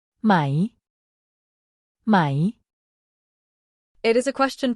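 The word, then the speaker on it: ไม่: or not in English it's pronounced with a falling tone so your voice goes down slightly when you say it my it is important to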